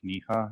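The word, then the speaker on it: Kniha: name is and my last name is pronounced kha and I would like to point out that um it is also misspelled in the memorandum so okay it's supposed to be kilo November India hotel Alpha K N I ha it's pronounced K okay if you can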